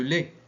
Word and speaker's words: lait: Les bébés boivent le lait. La lettre muette, c'est T.